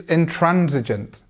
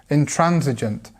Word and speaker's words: intransigent: so the answer is intransigent intransigent and here we have the stress so Trans in transigent